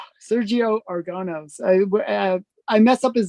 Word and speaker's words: Sergio Aragonés: Sergio Aragonés. Sergio Aragonés. I mess up his name every time. It's so annoying. But yes, Sergio Aragonés.